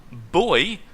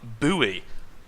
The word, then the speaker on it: buoy: now found out that this actually has two different pronunciations if you're going with the US version or the non US version I was never air of that missile radar boy and missile radar buoy that's bizarre and as